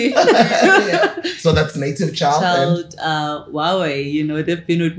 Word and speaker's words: Huawei: Huawei, you know, they've been with me since 2019. You know? Sure. Guys, it's Huawei. Not like me, I used to pronounce it highway. It's Huawei.